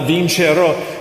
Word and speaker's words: Vincerò: Um when you're doing that final "Vincerò", uh you want to make sure that um you know at the very end, you know, it breaks down syllables. "Vin-ce-rò". There's like three.